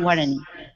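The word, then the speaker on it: Guaraní: It shows Bible stories in Spanish, and I'm not quite sure how to pronounce it. Yeah, Guarani.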